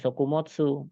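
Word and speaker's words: 食物: taberu dengan kanji mono maka cara bacanya jadinya sokumotsu artinya apa ya tetap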